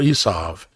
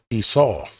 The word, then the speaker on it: Esau: the generations of Esau, or Esav, as they say in Hebrew. Esav. We pronounce it Esau.